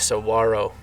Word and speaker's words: Saguaro: So it's Saguaro National Park.